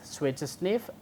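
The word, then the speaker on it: SWI/SNF: subunit major families are SWI /s NF pronounces switch sniff is WI CH D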